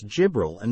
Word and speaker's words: Jibrila: The Messenger of Allah related a tradition in which he mentioned the words Jibril and Mikael and he pronounced them Jibrila wa Mikaela.